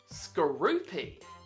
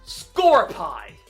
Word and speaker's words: Skorupi: It is Skorupi. It's been like that for quite a long time in the anime. And yet some stupid people call it Scorepi. It doesn't have an E at the end of its name. If it did, then it would be Scorepi. But it's Skorupi.